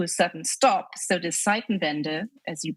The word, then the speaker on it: Zeitenwende: So the Zeitenwende, as you pronounce it, we say Zeitenwende.